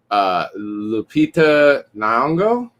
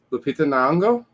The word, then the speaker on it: Lupita Nyong'o: I would say I cannot pronounce her name. I'm going to try. Lupita Nyong'o, I believe. Lupita Nyong'o.